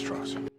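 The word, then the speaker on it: Strauss: was too right I believe Mr TR it's pronounced straws straws the way you say they know I'm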